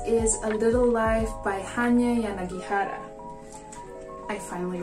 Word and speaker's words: Hanya Yanagihara: Another Shopee purchase is A Little Life by Hanya Yanagihara. I finally pronounced that correctly.